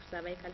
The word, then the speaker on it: cervical: So it is actually pronounced as cervical cancer, not cervical cancer. Yes, it's cervical cancer because we have cervical bones at the neck, so the cervix. So we pronounce it cervical cancer.